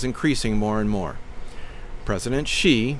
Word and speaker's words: Xi: more and more President Xi pronounced as it does sound although is spelled with an X and an I wants to destroy anything